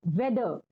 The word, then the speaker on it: weather: पहला जो आपका वर्ड दिया है वो है वेदर, WEATHER। वेदर यानी मौसम। यहाँ पर जो आर है वो साइलेंट है, बोलते समय हमें आर पर जोर नहीं देना है।